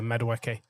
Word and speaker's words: Madueke: Madueke, I don't know why I mispronounce his name there, Madueke.